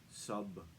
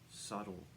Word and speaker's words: subtle: of poignant and subtle subtle has a silent B which is not heard when the word is pronounced correctly Sato subtle occasionally one hears the word mispronounced subtle as in sub sandwich